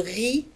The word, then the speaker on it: riz: الأرز هو le riz, le riz. وتنتهي بالزد ولا تنطق.